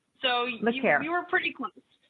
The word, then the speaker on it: LeCaire: It's LeCaire. So LeCaire.